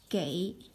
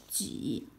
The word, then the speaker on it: 给: It can be pronounced as 给 or 几.